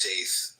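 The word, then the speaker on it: Teth: Come on and te pronounced tith transcribed as t the number nine meaning serpent the intelligence of the secret of all spiritual activities.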